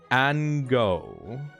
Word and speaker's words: Ango: Okay, this is created by Ango. Pronounced like mango.